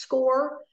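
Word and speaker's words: SCOIR: we are working with score it is spelled s-c-o-i-r it is pronounced score and this is as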